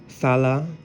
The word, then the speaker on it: thala: speaking of standard Atlantean, this letter sounds like a soft tha, tha. So when you pronounce the ethnic name of the Atlanteans, thala, you know, it's pronounced like a soft tha, kind of like the same sound that you would say when you say the English thing, not necessarily brother.